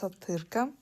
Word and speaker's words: Атырка: Uh my nickname is pronounced as Atyrka.